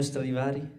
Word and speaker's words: Stradivari: Antonio Stradivari.